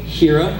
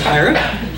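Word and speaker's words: Hiera: we reviews puppet higher which I've been pronouncing hira up until I heard this one ring that was higher then I'm going here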